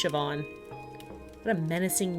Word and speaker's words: Siobhan: Xiaoban? Siobhan. It's pronounced Siobhan.